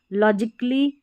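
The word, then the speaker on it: logically: देखिए ए साइलेंट रहता है। जैसे यहां पर लॉजिकली म्यूजिकली यानी ए के बाद में डबल एल वाई रहता है। ए के बाद में डबल एल वाई रहता है। तो ए का साउंड नहीं आता है।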